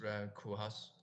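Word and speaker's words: Rem Koolhaas: And who is Ran Kuhas? This is the name of his he's actually pronounced like a cool house.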